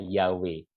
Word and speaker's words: Yahweh: translate terasinya ini ya Wei itu mirip dengan bunyinya ya Wei mirip dengan lafalnya Yahweh oke Nah inilah yang